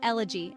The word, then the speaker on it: elegy: of time pronounced Lig with stress on the first syllable use elig to describe art exploring themes of loss for example the poet penned a moving elegy for his late wife